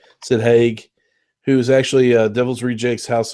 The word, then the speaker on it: Haig: And Sid Haig, I think it's how you pronounce his last name, Sid Haig, who's actually Devil's Rejects,